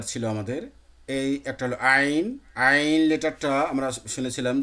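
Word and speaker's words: ع: আইন, এই আগা, সামনের আগা নিচের দিকে সুস্থভাবে থাকবে, আইন, শুধু গলাটা একটু শক্ত করে বের হবে।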